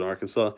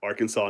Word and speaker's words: Arkansas: vine about Kansas in Arkansas oh the one where they where they say why why do they pronounce it as Kansas but this is art Arkansas not Arkansas yeah my friends in